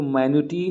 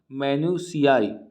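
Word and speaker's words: minutiae: अब देखिए इसका प्रोनाउंसिएशन पहले समझना है, एक को मैन्यूटी नहीं पढ़ना है, इसका प्रोनाउंसिएशन है मैन्यूसियाई।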